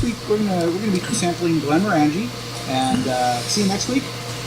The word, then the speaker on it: Glenmorangie: And next week, what is the proper pronunciation of that? Glenmorangie. Glenmorangie. So next week we're gonna be sampling Glenmorangie, and see you next week.